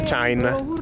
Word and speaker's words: Tschein: Questa si chiama Chain. Chain? Si scrive Tskain.